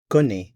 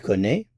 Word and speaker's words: connaît: He knows, she knows, one knows, connaît. Same pronunciation, but of course different spelling. c o n n a i accent circonflexe t. Notice the accent circonflexe in this form. Il connaît.